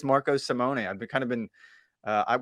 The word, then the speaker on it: Marco Simone: for giving us that it is Marco Simone I've kind of been